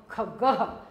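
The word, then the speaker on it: खगः: क्या होता है पक्षी ये ग के आगे बच्चों आप देख रहे हैं जो ये बिंदी लग रही है इनको विसर्ग बोलते हैं इनको इनकी जो आवाज हम उच्चारण करते समय ह साउंड करते हैं हम इसको ह की आवाज निकलती है ख ग के आगे लग गया है तो हम बोलेंगे ह ख गह क्या बोलेंगे ख गह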